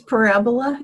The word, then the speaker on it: Parabola: to Magical Blend to Parabola. I don't even know what that is. Did I pronounce that right? It's Parabola. It's a magazine. Parabola.